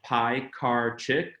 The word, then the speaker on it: Piekarczyk: My name is Piekarczyk. My last name is pronounced Piekarczyk. It's pies, cars, and chicks, right?